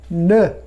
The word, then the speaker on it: ne: এই ভার্ব পার্টের আগে একটা পার্টিকেল ঢোকাতে হয়, NE। ন, উচ্চারণটা ন।